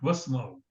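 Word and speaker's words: واسمعوا: It was isma'u, but wasma'u. Hamzatul wasl is silent.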